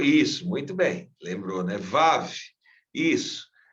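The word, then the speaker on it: וו: Vav. Isso. Vav. Se pronuncia como se representa o V.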